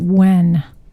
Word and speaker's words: Nguyen: It's Nguyen. When. That's how you pronounce it.